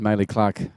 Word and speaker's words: Maylee Clark: And Maylee Clark is the correct way of pronouncing it, otherwise a grandmother will be onto me.